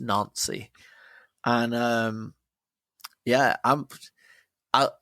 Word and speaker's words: Nancy: no they're from nony spelled Nancy but pronounced nany and um yeah I'm